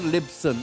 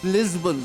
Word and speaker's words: Lisbon: Not Libson, it's Lisbon, Sporting Lisbon.